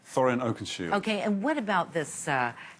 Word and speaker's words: Thorin Oakenshield: Thorin Oakenshield.